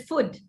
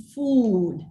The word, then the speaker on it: food: the vowel length here indians do not make use of the long vowel for for the word food we tend to pronounce this word as food if you say food a native year would hear it as foot because it's the short vowel in foot and a long vowel in food right these are the